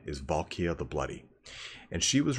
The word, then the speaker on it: Valkia: uh actually I mean you might actually pronounce that valkia because it's supposed to be a take on a valkyrie so let's read this